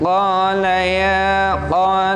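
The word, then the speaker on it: قال: Di sana ada awal ayat 33 qala ya. Ya, perhatikan. Di sana ada penekanan di qa karena dia panjang mad tabi'i. Satu tekanan saja.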